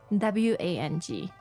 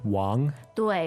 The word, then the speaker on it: Wang: some other examples um how about a very popular name w a n g okay Wang w w okay so again the Ang sound Wang so stop calling people Miss W Mr W it's Wang instead exactly bang Wong welcome